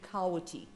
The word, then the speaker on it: Kawiti: They told me they were marking out a farm for, and this is spelled T-O-W-E-E-T-E-E, and it is actually Kawiti. So Tawiti, Kawiti, and that he would return